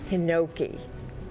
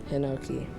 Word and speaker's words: hinoki: Hinoki. Are there any alternate pronunciations? There are not. Hinoki.